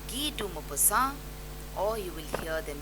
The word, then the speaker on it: Guy de Maupassant: Now there are different ways in which people pronounce it, but in French, France, if you go, you will hear people saying Guy de Maupassant, or you will hear them saying Guy de Maupassant.